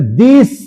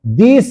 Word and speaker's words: the: हम लिखे हैं टी एच E. This is द डॉग पढ़ेंगे कि दी डॉग पढ़ेंगे? द डॉग। द डॉग पढ़ेंगे। यहां पे उच्चारण इसका क्या हो जाएगा? द क्यों द से शुरू हुआ? क्योंकि यहां पर जो वर्ड है शुरू वह क्या है? कसोनेंट है।